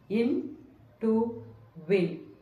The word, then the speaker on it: intuit: The pronunciation of the word is simple as it has three syllables. In, to, win.